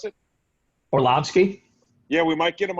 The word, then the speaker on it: Orlovsky: Dan or Dan Orlovsky or how do you pronounce it Orlovsky yeah we might get him on Saturday I